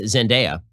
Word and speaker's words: Zendaya: Okay, so that stars Tom Holland, and I've been informed that it's pronounced Zendaya.